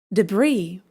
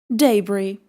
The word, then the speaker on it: debris: It is pronounced like debris or in British English debris.